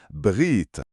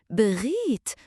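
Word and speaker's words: bghit: Le r est comme le r français, mais un peu plus au fond de la gorge. Brit. Brit. Hmm. Brit. Comme un petit grognement charmant.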